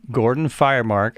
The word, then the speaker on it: Gordon Firemark: and on my show today i have had gordon firemark i am pronouncing that right yes yes it's just like